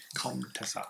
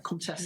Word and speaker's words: comtesse: Comtessa. Comtessa. Comtesse.